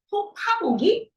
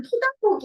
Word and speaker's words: 톺아보기: 잖 여기 보면은 토토토 토파보기 그거 이게 우리 있잖아요 토파보기 단어를 썼잖아요 여기 캠프가 우리 5주간 사업을 하면서 제가 그 국어 사전을 찾아봤는데 이거 대부분 토다기 이렇게 우리가 발음을 했는데 공직 발음이 토파보기더라고 그냥 우스갯 소리로 실업시